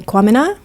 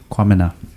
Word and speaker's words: Quamina: middle name ah um it's my last name kwamina kwamena my mom is gnae in jamaican and so it's uh like common to make uh ghanaian last name so kwamina wu hey well done is a black and